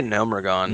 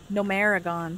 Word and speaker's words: Gnomeregan: say this dungeon name i say gnomeregan gnomeregan there we go so i'm alone in my pronunciation how did you say no maragon no america that's fancy i like that no maragon no america very wrong all right i've got